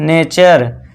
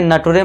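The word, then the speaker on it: nature: चर का साउंड देंगे। तो इसे क्या पढ़ेंगे हम? नेचर। इसे नटरे मत पढ़ना। ठीक है दोस्तों? नटरे मत पढ़ना गलत हो जाएगा।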